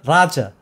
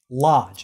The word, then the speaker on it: Lodge: Well, my mother said his name and her English pronunciation wasn't very good. So she would say, "This is Mr. Raja." Lodge. It was supposed to be Lodge.